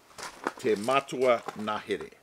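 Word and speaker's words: Te Matua Ngahere: Now, this one is pronounced. Te Matua Nahere.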